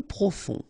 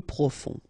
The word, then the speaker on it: profond: Peu profond, final D not pronounced, peu profond.